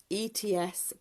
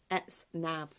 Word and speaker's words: Etznab: Pronunciation, ETZNAB, ETZNAB.